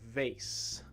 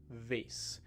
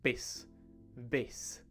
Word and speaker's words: vase: So normally we want to say vase, right? Vase. But again, if you're pronouncing the V as a B, you might be saying base, right?